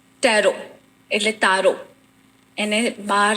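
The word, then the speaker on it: tarot: ટેરો એટલે તારો, એને બહાર જે બહારની કન્ટ્રીમાં પ્રોનાઉન્સ થાય છે ઇટ્સ અ ટારો. TARO. અહીંયા આગળ એને ટેરોટ કહે છે, પણ રિયલ એનું પ્રોનાઉન્સ T is silent, હા.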